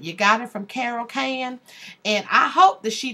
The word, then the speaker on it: Cane: next time that's Carol can c a r r o l c a n e and the E is silent